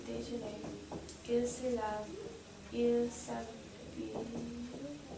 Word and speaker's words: s'habille: Elle s'habille. Elle Elle s'habille. Oh, right. Yeah, so remember this double L makes a y sound.